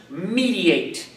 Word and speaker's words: mediate: The word is pronounced mediate.